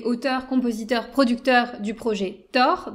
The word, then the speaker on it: Taur: Puisque je le disais en ouverture, donc toi, tu es auteur, compositeur, producteur du projet Thor. Donc, Thor, ça s'écrit T-A-U-R.